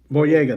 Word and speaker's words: Boyega: is it boyo I always say his last name wrong boyega thank you thank you of course Jamie Foxx